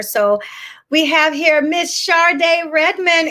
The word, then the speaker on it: Sharde: we have here miss sharday redmond am i pronouncing your name right charde yes that's my name how are you on